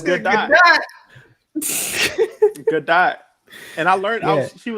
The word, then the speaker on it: Gadot: That's how you pronounce It's the name really Gadot. It's Gadot.